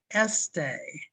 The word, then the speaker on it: este: So I had the short E and then the long A sound. So when a word Este. has 2 E's in it, you switch it out, a short and a long. Well, no, there's both este.